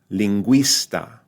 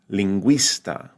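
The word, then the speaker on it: lingüista: call it theat right then it's pronounced like a w right so beru the U now sounds more like a w linguista linguista pinguino pinguino all right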